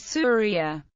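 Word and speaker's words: سوريا: from the aradian asure the classical Arabic pronunciation of Syria is surria this name was not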